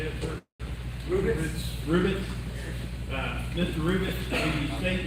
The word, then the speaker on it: Rubitz: Rubitz.